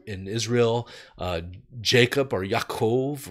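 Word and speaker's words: יעקב: Israel uh Jacob or yaakov right that's how you pronounce it in Hebrew and then Joseph in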